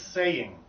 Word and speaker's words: saying: Here's a hard word because the Y in the middle of the word with the ing makes it possible to just forget the fact that it's actually a two-syllable word.